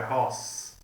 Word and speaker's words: RoHS: Eles não falam, pronunciam ROS como eu, é ROS.